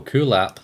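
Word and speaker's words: Kulap: the Western Pacific we have how do you pronounce this name cool app oh cool app that's that's going that is actually probably the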